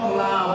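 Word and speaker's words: لام: আরবিতে নাম বাংলায় হলো ল, আরবিতে নাম বাংলায় কি মানে করবেন? ল। ল। একই জিনিস স্বাভাবিক উচ্চারণ।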